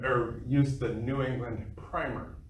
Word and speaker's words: Primer: But then they also regarded or used the New England Primer, or as Dr. Tackett will correct me in my pronunciation, Primer.